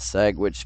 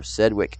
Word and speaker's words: Sedgwick: believe near Wichita and Sagwitch County. That's spelled Sedgwich, so Sedgwick County, Kansas.